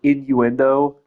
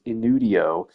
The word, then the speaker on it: innuendo: I mispronounced like you know the word innuendo? I never saw that third in. I don't know if it's cuz I'm dyslexic or what but I thought it was inudio and I got so